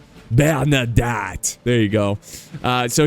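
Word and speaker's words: Bernadotte: Bern Bernard why can't I say his name bernadat bernadat there you go uh so he's leading this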